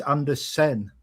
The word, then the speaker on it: Andersen: Elliot Andersen is SON, Anderson. Joachim Andersen is Andersen. You know this because the Sen is a Scandinavian pronunciation and he's from Scandinavia.